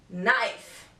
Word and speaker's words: knife: all right letter K the letter K is always silent before the letter n for example knife knock knowledge letter L this letter